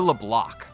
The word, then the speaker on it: Leblanc: You're a Leblanc. Leblah LeBla. The C is silent.